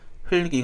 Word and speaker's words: 흙이: 발음만 여기에 있는 리얼과 기억을 다 같이 살려서 발음하는 흘리기 가 됩니다 적 그래서 눈에 흙이 들어가서 아프다